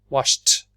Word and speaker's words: washed: Next one is washed. Washed. Is that 1, 2, or 3? Washed. Yes, we say the T.